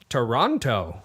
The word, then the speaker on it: Toronto: it New Orleans but how do you say Toronto Toronto without the the tea but you don't say